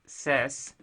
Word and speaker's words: SAS: 02 protraining docomo analysis system pronounced as sess SS is an integrated